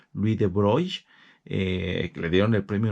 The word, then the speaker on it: Louis de Broglie: que me parece que la pronunciación original es algo así como Louis de Broglie, que le dieron el